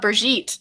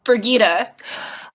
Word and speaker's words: Birgitte: anything so when I saw her name I thought brigit not brigita ah for me it was Bridget when I first read the books I called her Bridget for the longest time even though it's spelled out there that it's not bridg yeah so the first